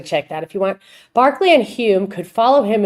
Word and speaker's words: Berkeley: by his distinctive personality Barkley so it's spelled Berkeley but it's pronounced Barkley if I'm not mistaken someone can sanity check that if you want Barkley and Hume could follow